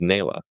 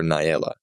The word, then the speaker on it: Nayla: Her name is Nayla. I called her Naela.